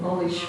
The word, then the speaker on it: knowledge: For example, not acknowledge, but knowledge, we do not pronounce K.